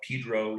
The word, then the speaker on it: Pedro: Yeah, they call it Pedro, even though it's spelled Pedro. Took me a long time to get that right.